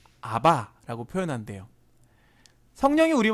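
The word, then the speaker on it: אבא: 아바 아버지 라는 호칭이 아바 해요 그걸 그냥 아 우리가 친근하게 부를 때 우리 랑 비슷해요 우리가 아빠를 친근하게 볼 때 아빠라고 부르잖아요 아버지 라고 하지 않고 그쵸 똑같은 거예요 그 발음이 거의 비슷합니다 아 아람어로 아버지를 친근하게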